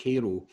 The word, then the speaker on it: Cairo: is about a town in Southern Illinois called Cairo it's spelled Cairo like the capital of Egypt Cairo but it's pronounced Cairo and for a period of time in the